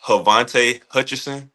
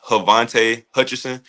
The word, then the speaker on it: Havante Hutcherson: So, my name is actually pronounced Havante Hutcherson. I'll say it again. It's Havante Hutcherson. Most people just call me Vonte because sometimes it's hard to pronounce my first name.